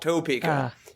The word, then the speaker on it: Topeka: it's t a p e Ka but it's it's spelled Topeka but it's like Quebec or Quebec it's Topeka